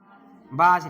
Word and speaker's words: Balz: बाज रिएक्शन। लिखो BALZ, Simon, bulge, bulge Simon, spelling SCHIMANN, Simon, SCHI।